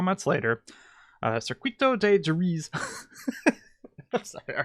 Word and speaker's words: Jerez: I'm pretty sure it's pronounced Jerez, but we were in a big Discord call group yesterday, and I think we settled for Jerez. So we're going to start calling this track Jerez.